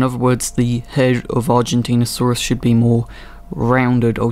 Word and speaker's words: Argentinosaurus: It's pronounced Argentinosaurus.